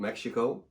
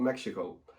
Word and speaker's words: Mexhico: It is called Mexhico. It's spelled Mexhico. I did talk to the manager, and that's how she told me to pronounce it. So it's called Mexhico.